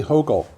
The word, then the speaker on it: Hochul: Kathy Hochul. Yeah. New York, and I might be pronouncing that slightly wrong, but Oh, Hochul is right.